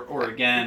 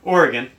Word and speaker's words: Oregon: but Courtney comes from Oregon or Oregon or or again listen say it right Oregon um and she grew